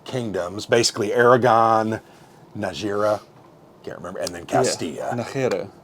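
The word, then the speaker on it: Nájera: 3 kingdoms, basically Aragon, Najera, can't remember, and then Castilla. Najera, there you go, whatever. They don't pronounce the J's, right?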